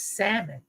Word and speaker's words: salmon: up that it was salmon that the L was silent I did not know that all right so try to tell country rural folks that the L in Salmon is silent that you don't say